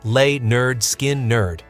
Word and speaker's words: Lynyrd Skynyrd: By 1973, the band had signed with MCA Records and released their debut album, Pronounced Leh-nerd Skin-nerd.